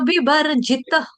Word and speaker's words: विवर्जित: देखो आपने क्या बोला, जित में जी जो अच्छा बोला, छोटी की मात्रा लगाई वो भी ठीक किया, त जो बोला ना त आपने आधा कर दिया, जितनी जित, समसंग विवर्जित जित त पूर्ण त पूरा आएगा, समसंग विवर्जित कदम पुष्प